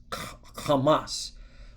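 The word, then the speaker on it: חמס: So it's it's pronounced kamas which means what?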